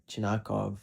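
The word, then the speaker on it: Chernyshov: and that is Igor Chinakov, who has 30 points in 15 games played. I sounded so Russian there, but that's how you say his name, like respect the guy.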